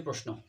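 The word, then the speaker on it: Paris: সেটা হচ্ছে ইরানের ভাষা আর যে পেরিস আছে পেরিস হচ্ছে ফ্রান্সের রাজধানী পেরিস হচ্ছে ফ্রান্সের রাজধানী এবং একে উদৃত ভাষায় পেরি বলা হয় যদিও আমরা ইংরেজিতে পেরিস বলি কিন্তু ওরা ফ্রান্সের ভাষায় একে পেরি বলে এটা কিন্তু মনে রাখবা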